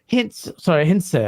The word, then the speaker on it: Hintze: Can Pierre Hintz save it? Hintze, I think it's pronounced.